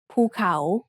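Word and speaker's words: ภูเขา: ะ เ อ า The first syllable is mid-tone and the second syllable has a rising tone ภ ู เ ข า Let's write it together.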